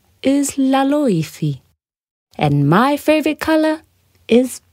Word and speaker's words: Laloifi: said Chris Cross candy floss my name is laifi and my favorite color is pink iy said